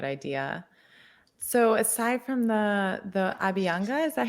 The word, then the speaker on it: Abhyanga: So aside from the Abhyanga, is that how you say it? Abhyanga, yeah.